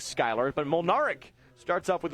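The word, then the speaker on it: Schuyler: When I first moved to Nebraska, I was, you know, you look at Skyler, you think Schuler? Yeah. Is that Schuler? Is that how you say it? No, of course it is Skyler.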